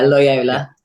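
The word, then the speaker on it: Loyola: Talk about your time is how you pronounce it is Lyola. Is that how you pronounce it? Lyola. Yeah, Lyola.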